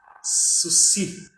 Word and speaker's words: Saussure: Parece até que ele entende de Saussure, né? Ou a pronúncia correta seria Sucy, né? Sucy.